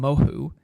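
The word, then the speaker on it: Mohu: how to pronounce but I'm going to pronounce them moho okay m o h u uh these guys came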